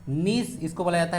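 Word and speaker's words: gneiss: नीस में, जी साइलेंट होता है, फॉस्फेट, ग्रेनाइट या फिर मार्बल।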